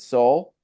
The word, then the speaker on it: Sol: Um, he goes by, also known as Soul, which is spelled SOL.